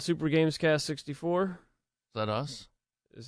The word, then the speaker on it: Super GamesCast: Back to Super GamesCast 64. We gotta pronounce the S in there.